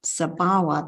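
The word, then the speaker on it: sabhāva: object of clinging, but sabhava, the long A, refers to the characteristic, like the characteristic of reality. Each reality has its sabhava. So it's a different meaning, different pronunciation.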